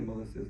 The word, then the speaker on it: Maulissa: I typed that in wrong cuz he didn't tell me Melissa. Told me something. Melissa Ma. It's spelled M Au. Okay. Sa, but it's pronounced Melissa.